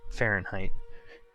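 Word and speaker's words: Farn'd: Except for it's pronounced Fahrenheit.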